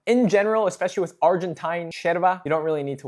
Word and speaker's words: yerba: Now remember in Argentine Spanish, the majority of the time the double L and the Y are pronounced as sh, right? This is called sheso. That's why it's called sherva in Argentina when it's actually spelled yerva.